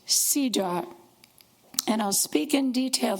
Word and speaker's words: CEDAW: It is known by the acronym of some of those words, CEDAW, and it's pronounced CEDAW.